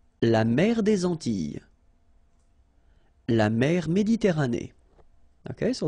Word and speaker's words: Antilles: So here it's quite interesting because, well, you've got this E and then double L, ES. Okay? So final S and E, really, you don't pronounce them. So you get this I, I sound.